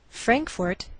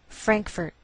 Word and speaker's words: Frankfort: Frankfort, Kentucky. Now some Americans may change the second syllable of the capital, and you may hear Frankfurt. Do you hear the difference?